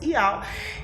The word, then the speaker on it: Yahweh: Este canal tem o objetivo principal de revelar o nome do Pai, que é Yud-Rei, Vav-Rei, na pronúncia Yahweh, e o nome do Filho, Yahshua Mashiach.